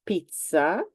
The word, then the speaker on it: pizza: And in fact, in general, let's say that there are more words with the sound ts. So one is pizza, everybody knows it.